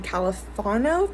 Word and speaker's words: Califano: hunger strikes during this time and finally congressman califano that's how you pronounce his name finally signed those reforms ending